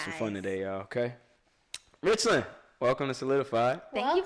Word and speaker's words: Richland: Then am I saying it right? Yeah, Richland.